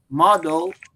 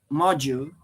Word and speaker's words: module: uh Gabriel and I my pronunciation wasn't wasn't wrong wasn't uh not not correct on the time you still have to say model I I I should say module because module is related to m-o-d-o-l-e from from Maven because